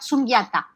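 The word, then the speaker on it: śūnyatā: lleva por nombre este un nombre femenino que se pronuncia su nieta su nieta para el budismo es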